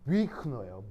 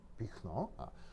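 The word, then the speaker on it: Büchner: 이럴 때 어떻게 하냐면서 위크너예요.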